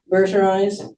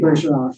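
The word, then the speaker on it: Bourgeault: Then, um, the next thing I know he's, do any of you know who Cynthia Beriz? Yeah, I always say her name wrong. It should be burau.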